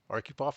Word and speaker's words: Arkhipov: Arupov, I hope I pronounced your last name properly.